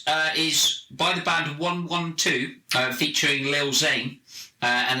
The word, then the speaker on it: 112: outfit yeah I mean it's one one2 in a numerical format so I don't chastise you for pronouncing it wrong but they would like you to pronounce the name 112 I never knew that